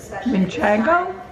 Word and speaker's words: Manchego: How do I pronounce manchego? Manchego. It's not how you say it. There's only one N in it, so that's not the correct pronunciation. It's Manchego?